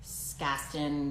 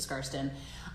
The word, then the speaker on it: Skarsten: James please forgive me people mispronounce my name all the time I get like Gaston Kirsten something like that's not even related to scarston um it doesn't bother